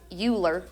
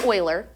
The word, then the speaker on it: Euler: right so Euler's number again looks like it's pronounced Euler but it's pronounced Euler is approximately 2.718 so just like Pi that